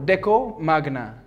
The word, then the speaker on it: Decomagna: well the company name is and here i'll pronounce it properly is deco magnet no and trust me deco deco magna deco i'm not the one i'm not the